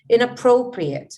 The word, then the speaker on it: inappropriate: check the spelling okay you see where the stress here is you see how i pronounce this word inappropriate so pro is these stressed syllables here we need to work